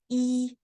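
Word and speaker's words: 一: it's just one line and the pronunciation is e and the one line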